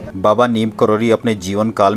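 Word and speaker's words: नीब करौरी: लेकिन बहुत से श्रद्धालु उनके नाम का गलत उच्चारण कर रहे हैं। नीम करेला, जिसको कि एक बुरे गुणों के रूप में माना जाता है, उस तरह से उनका नाम नीम करेला से मिला करके नीम करौली कह रहे हैं।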